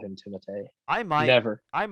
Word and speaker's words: Timothée: I think it's pronounced Timothée. Timothée Chalamet. Yeah, is that? I'm pretty sure that's what his name is supposed to be because he's got the little accent.